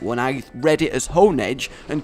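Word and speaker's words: Honedge: All right, so with me the whole the whole Shaba Castle thing and Hond. I realize technically it's Hone Edge, but honestly, I just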